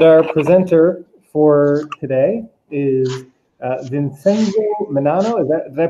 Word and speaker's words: Vincenzo Menanno: And our presenter for today is Vincenzo Menanno. Did I pronounce that correctly?